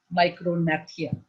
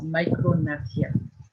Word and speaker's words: micrognathia: This underdeveloped mandible or a small lower jaw is called micrognathia. ये G इसमें silent है. ये G. This is silent. It is micrognathia.